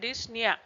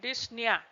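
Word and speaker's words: dyspnea: dis dis phonia and dnia p is silent here okay dnia so these are the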